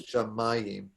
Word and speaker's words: shamayim: it from this but the accent is on the second to last syllable for this word so it's shamayim but that will try